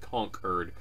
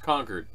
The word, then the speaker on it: Concord: thinks we've called the capital of my state Concord when it's pronounced Concord so that makes me think how many other